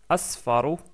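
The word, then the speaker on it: أصفر: Ahmar puis le jeune qui se prononce asfaro asfaro ou asfar si on s'arrête sur le mot attention je peux prononcerar donc c'est un sad la deuxème lettre donc c'est asfar la troisème couleur c'est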